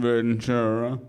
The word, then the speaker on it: Ventura: And I think they're sold out, but it's pretty definite I'll be in Ventura.